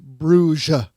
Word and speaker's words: Bruges: the locals, it's pronounced Bruges. The French spelling is pronounced B-R-O-U-G-E. Making it worse. Rhymes with rouge, the makeup color.